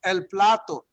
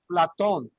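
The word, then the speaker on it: Platón: people would think it's el plato his name is actually pronounced platon similar right plateau okay i'm just again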